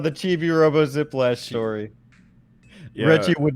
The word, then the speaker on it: Reggie: count well you know reggie rhymes with veggie so i think it